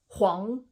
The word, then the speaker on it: Huang: These are not pronounced ang, but like Yang, Zhang, Kuang, Liang, Huang, Fang, Wang. Not Wang, Wang.